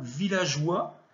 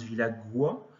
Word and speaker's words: villageois: Vous aviez également le mot villageois. Il ne fallait pas oublier le E, parce que sinon on prononce villagois. G plus O, ça donne GE.